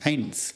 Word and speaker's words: Eins: Notice that the EI sound here is an A sound, much like the thing that you see with, and that the S sound at the end is a kind of a S sound.